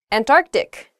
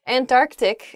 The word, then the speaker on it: Antarctic: things happen to her hyperbole not hyperbole next Antarctic not ah oh I see Antarctic is the correct pronunciation of this word some people say and